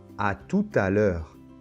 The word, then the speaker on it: à tout à l'heure: bonne et la lettre t final ne se prononcent pas non plus bonne alors une autre expression très connue c'est à tout à l'heure à tout à l'heure bon c'est peut-être un